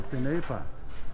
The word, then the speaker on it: senepa: Oh, senepa. I've been corrected. It's senepa. It's spelled the same.